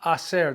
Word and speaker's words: hacer: Vamos a hacer, that a hacer, the H is silent so they run together.